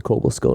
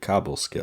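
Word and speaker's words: Cobleskill: in this cave in cobal Skill New York is it actually pronounced cobal skill or is it Cobble skill I mean there's only one b in it right Cobble it's cobl e so I don't say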